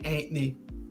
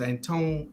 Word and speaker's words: Antoine: to go with the young man Anthony and Antonio and no it's Antoine antonome thank you um